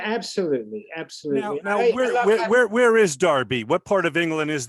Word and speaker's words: Derby: I grew up in wonderful England, Derby, England, which is pronounced spelt D-E-R-B-Y.